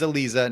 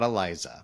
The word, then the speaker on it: Aliza: So, and just so everybody knows, it is Aliza, not Aliza.